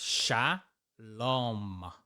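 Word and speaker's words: שלום: So this is shalom. M. The mem is just an M. Shalom. That's how you know how to pronounce this perfectly.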